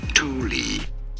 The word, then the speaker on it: Thule: probably because it is a Swedish company this is to be said as Tuli well there you have it Tuli that's how you say it as you guys